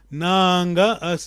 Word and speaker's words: nanga: Nanga, assim o acento se escreve, é já vogal longa.